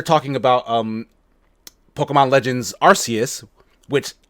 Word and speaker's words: Arceus: that they're talking about um pokemon legends arceus which sounds like the thing we all thought